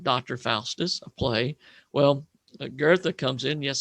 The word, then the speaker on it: Goethe: Well, Goethe comes in. Yes, the name is pronounced Goethe, sort of an R sound.